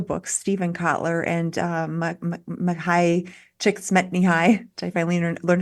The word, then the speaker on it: Csikszentmihalyi: Well, one thing I think is important is a lot of the books, Stephen Kotler and Mahai Csikszentmihalyi, which I finally learned how to pronounce, often talk about flow states with sports, but you don't have to be athletic.